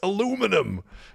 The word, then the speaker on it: aluminum: So a lot of Americans are going to be sitting there going, "It's not aluminium, it's aluminum."